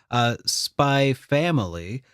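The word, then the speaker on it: Spy x Family: Do you pronounce the X when you say that? No, it's just Spy Family.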